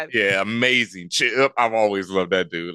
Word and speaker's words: Ch'p: Don't don't say it like it's like Kal-El with a with an apostrophe. Ch'p. That's an apostrophe. It's c h apostrophe p.